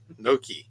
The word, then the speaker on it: gnocchi: That's how you pronounce it. Gnocchi.